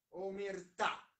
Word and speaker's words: omertà: è gusto numero 3 cosa significa il termine omertà con l'accento sulla o perché saviano si oppone all'omertà